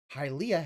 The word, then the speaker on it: Hylia: Hyrule is how you pronounce the country or the world, the continent, whatever the fuck it's called. Hylia has the HY just like that. That's why they're Hylians.